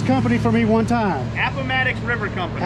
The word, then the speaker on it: Appomattox: Pronounce the name of this company for me one time. Appomattox River Company. Appomattox River Company.